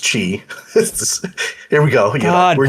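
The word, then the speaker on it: χ: Chi. It's pronounced Chi.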